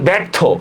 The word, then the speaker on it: ব্যর্থ: এই যেমন ব্যর্থ, খেয়াল করেন ব্যর্থ, তাহলে আমরা কি করব, ব্যর্থ জ ফলার পরে ই আছে, নাই, তাহলে আমরা কি করব, ব জ ফলা আকার র থয় ওকার থ, ব্যর্থ।